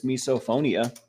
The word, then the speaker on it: misophonia: It's spelled like miso soup, but it's misophonia.